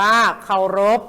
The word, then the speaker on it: เคารพ: เอา คราว รอ อก พอ รบ อ่าน ว่า เคารพ นะ คะ พอ พันธุ์ ออก เสียง เป็น ตัว